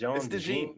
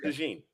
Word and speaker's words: DeJean: It's DeJean. They pronounce it DeJean.